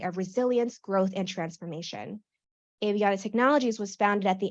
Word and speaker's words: Aviana: And I have it pronounced as Aviana, not Aviana, just for everyone's awareness.